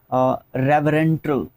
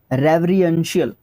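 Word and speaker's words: reverential: रेवरेंटल, रेवरियंशियल, रेवरियंशियल बोलेंगे हम लोग इसको।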